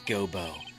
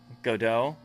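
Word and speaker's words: Godot: It's not Gobo. It's GDO, your honor. Go dot. The T is silent. Right. Right. I'm saying it right. Right. It's god do.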